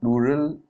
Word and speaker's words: plural: So it's pronounced plural and it's pronounced the same as rural.